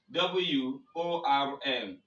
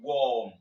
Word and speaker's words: worm: there are some other examples for this like w o r m w o r r t h w o r k if you want to pronounce this words noun you see worm worm